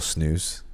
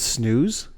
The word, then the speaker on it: snus: Is it snooze? I think that's how you would pronounce it.